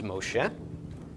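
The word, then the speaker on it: משה: in the name Moses which in Hebrew is Moshe okay men whole um Val followed by Machine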